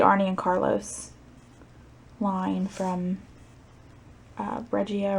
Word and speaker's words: Regia: and Carlos line from regia or regia feel like it's regia I feel like it has a hard G but anyway so usually